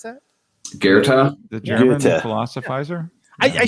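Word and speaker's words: Goethe: how you say that is it's called it's gerta is how you pronounce that guerta the german philosophizer i i should i should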